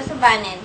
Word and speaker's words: Subanen: of sweet and coconuts subanon pronounced a subanen is the dialect of